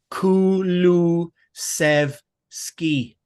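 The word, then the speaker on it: Kulusevski: So that was Kulu Sev Ski.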